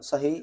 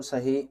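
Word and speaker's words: Sahih: So in that hadith there are um few books and in these books there is a writer uh Sah Abu Dau. So it is spelled s a h i h s a h i h.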